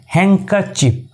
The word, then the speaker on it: handkerchief: but it's totally wrong d here always remains silent right so the correct transition of this word is handkerchief not handkerchief it's your